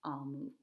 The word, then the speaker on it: Omu: lets us know that Amu is pronounced Almu.